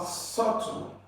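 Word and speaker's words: subtle: at the beginning so the B here is silent you cannot say sub to S so B is silent there's no B here then for option b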